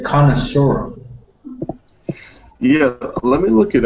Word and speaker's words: connoisseur: So, here you can see connoisseur here that this means accent. So this syllable has the accent.